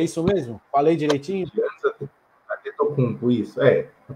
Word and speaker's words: Giannis Antetokounmpo: Giannis Antetokounmpo, isso. A pronúncia, pelo menos no português, a gente conhece